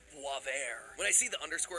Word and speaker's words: Boisvert: underscore boaz vert or as i believe it's actually pronounced voivair when i see the